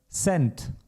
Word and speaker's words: Cent: as in the word cent, like €1 has 100 cents. And in this context, it's pronounced similar to English, much softer. Cent, which in English would also be cent. It's basically like English.